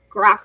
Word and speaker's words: grok: So Grok, Mm. and then Spock said, wrote a book or something like Grok Spock, right? Because they went to rhyme with it.